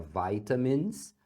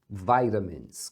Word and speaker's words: vitamins: take vitamins aqui também Você pode pronunciar vitamins ou vitamins como se fosse um R aqui no lugar desse T do take vitamins então take nesse caso é